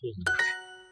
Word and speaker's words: hond: De hond. Here too, that final voiced D written is going to be sounded as a T.